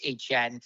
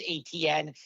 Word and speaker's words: Etienne: his whole life, and I have never heard it pronounced HN. So, we called him Travis ATN. When he was at Clemson, he played the national championship game here, and we have a lot of ATNs in Louisiana. So, but now calling him, I always have to catch myself, Travis HN, because obviously that's the way he pronounces it.